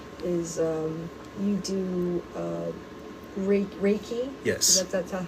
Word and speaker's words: Reiki: talk about also is um you do uh raiki. Yes. That's that how you pronounce it. Reiki.